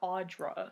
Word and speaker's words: Audra: Okay, is it Audrey or Audra? I heard it was Audra. Okay. That's how they pronounce it in the miniseries.